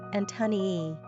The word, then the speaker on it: Antonia: Pronunciation, Antonii.